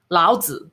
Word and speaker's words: Laozi: and then t-z-u yeah it's not tcu it's t it's zi laozi oh no okay every